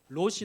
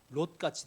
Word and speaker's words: 롯: 그러다가 결국 롯같이 되는 거예요. 발음을 주의하셔야 됩니다. 롯과 같이 되는 것입니다.